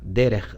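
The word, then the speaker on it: דרך: en amarillo claro, derech, y el amarillo oscuro o más fuerte es su pronunciación fonética, derech del hebreo, y se ha traducido como camino.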